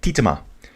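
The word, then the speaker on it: Tietema: I forget who told me how to pronounce it yesterday. I think his name was Henk. Henk Brome. Dude, if I called your name out right, just let me know. He said Titema.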